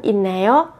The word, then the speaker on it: 있나요: 있나요 thì thường người Hàn Quốc sẽ đọc biến âm là 있나요 thì nó nhẹ nhàng hơn.